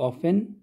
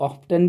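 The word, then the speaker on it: often: हाउ ऑफन का मतलब होता है, ये जो वर्ड है ऑफन, इसको आप ऑफ्टन भी पढ़ सकते हो। ठीक है, तो इसके जो है दोनों के दोनों जो है प्रोनाउंसिएशन सही है।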